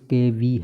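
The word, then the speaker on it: cave: خبردار کے مترادف ہے۔ کیو، جس کا تلفظ KV ہے، کو اب بھی اسکول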